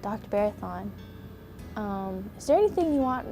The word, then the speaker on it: Bharathan: He came down walking in that big auditorium in Wyan saying, my name is Barathon, it rhymes with marathon.